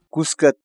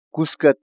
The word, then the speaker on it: kuska: de videos en la que te enseñamos a pronunciar algunas palabras en quechua. Así que nuestra palabra del día por hoy es... Cuscat. Cuscat.